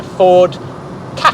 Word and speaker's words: Ford Ka: A 2011 second generation Ford Ka. Yes, that is how it's pronounced.